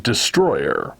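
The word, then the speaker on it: Destoroyah: name for example is spelled destoroya but it's pronounced Destroyer so yeah I'm not sure what we're gonna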